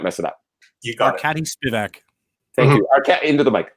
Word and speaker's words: Arkady Spivak: And you could make sure I don't pronounce Arkadi's name, so I don't mess it up. You got Arkady Spivak.